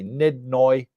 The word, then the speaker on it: nid noi: whenever anybody asks me I just say nid noi n d n o y if you want me to spell it out phonetically for you and that means a